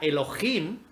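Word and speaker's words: אלהים: la palabrita Dios es la 430, que se pronuncia Elohim, que significa dioses en sentido ordinario o también el Dios supremo, pero sí que puede significar dioses esa palabra tiene dos significados.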